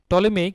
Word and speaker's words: Ptolemy: টলেমি কে ছিলেন? টলেমি ছিলেন মূলত একজন জ্যোতির্বিদ, গ্রিক স্কলার টলেমির কিন্তু স্পেলিংটা হবে তোমার PTOLEMY, পিটা এখানে সাইলেন্ট থাকবে।